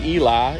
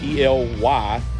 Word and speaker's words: Ely: going to stay tonight in ely i'd say eli it's e-l-y but they pronounce it ely nevada there's a very historic